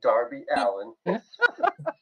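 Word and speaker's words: Darby Allin: but I actually Allen I'll say it properly for you Darby Allen Darby Allenby all coming down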